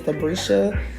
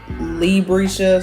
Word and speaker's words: Labrisha: I'm gonna put that on the screen because a lot of people don't know how to pronounce my name, and they say Librisha, so it'd be L-E, but it's actually L-A.